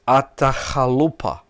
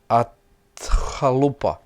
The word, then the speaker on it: Atahualpa: the young Inca king, and I need to pronounce his name very correct. His name was Atahualpa. Atahualpa. Well, I try to do my best here. Atahualpa, a Spanish priest, a friar, traveling with the